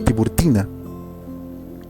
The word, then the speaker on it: Tiburtina: catacumbas de la Vía Tiburitana, o como tú quieras pronunciarlo, también puedes decirlo Tiburtina.